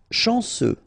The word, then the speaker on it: chanceux: Chanceux, final X not pronounced. This C-E-U, ce, chanceux, chanceux.